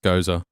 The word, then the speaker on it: Gose: It's pronounced Gose.